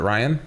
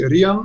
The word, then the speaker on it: Rian: Yeah, it's actually Rian. Rian, but that's you what can say Ryan. No. I was wondering if it was a Yeah. Rian or if it was a long or a short I there.